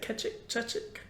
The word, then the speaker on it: Chechik: Chechik?